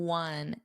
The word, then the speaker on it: one: yin blurry blurry in one in one. Now remember this looks like a vowel but what's the pronunciation? One. It's a w. It's the same as we won the game, which is spelled W N.